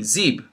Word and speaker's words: Ziv: My name here is pronounced with a B, Zib.